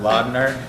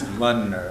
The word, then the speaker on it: Lundner: It's not Laudner, it's Lundner.